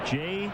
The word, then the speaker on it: Jair: It's J-A-I-R. And I guess that J is a soft J.